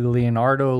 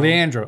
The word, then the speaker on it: Leandro: know how to say his first name correctly leonardo lean andro leandro fernandez leondro leandro leandro okay thank you so leandra fernandez the good